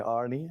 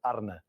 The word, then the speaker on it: Arne: I've heard an Anie Anna how do you pronounce it correctly I've heard Arie as well a few times when I played Celtic Brandon Rogers he he a few times called me Arie uh I listen to that name but we